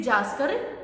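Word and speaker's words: Zanskar: The Karakoram range in the northern and द जास्कर, यहाँ पर spelling जो है आपकी मिस प्रिंट है बुक में. सो इसको जंस्कर नहीं जास्कर पढ़ेंगे. सो एन को आप स्किप कर लेना.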